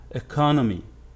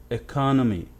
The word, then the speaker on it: economy: Economy. Economy. The stress is here on the second syllable. Economy.